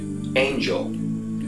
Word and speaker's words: Angel: guy named anel swasa or as we would pronounce it Angel um because that's the way it's spelled and uh he's originally